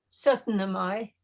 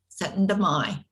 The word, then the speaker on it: Syttende Mai: How do you pronounce the holiday correctly? Syttende Mai. Syttende Mai.